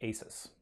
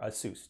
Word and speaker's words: Asus: The Nexus 7 was designed and developed by Google in conjunction with Asus, or Asus, depending on how you think it's supposed to be pronounced.